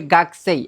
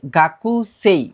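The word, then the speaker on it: 学生: এখানে দেখেন যে ভোকালিটি আছে এটার প্রনাউন্সিয়েশন হবে গাস। আমরা সাধারণত অনেকে ভুল করে ফেলি যে গাকু সেই মানে কু এর উচ্চারণটা এখানে কর মত হবে।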